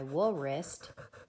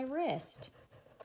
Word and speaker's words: wrist: say it's on my wool wrist you say it's on my wrist so the W is silent now this word has